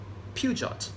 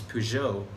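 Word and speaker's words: Peugeot: e OT p many people in Malaysia say puget I'm sure you say that too but the actual pronunciation is P Joe is because is in French of usual Persia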